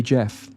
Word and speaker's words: Gef: name Jack call me Jeff apparently the voice was only able to spell out words phonetically and this is where the strange spelling of g f for Jeff came from Furthermore not long after